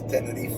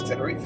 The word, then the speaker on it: Tenerife: In Spanish is Tenerife, and in English is Tenerife.